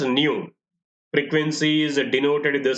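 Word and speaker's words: ν: this is pronounced as the symbol is pronounced as new frequency is denoted with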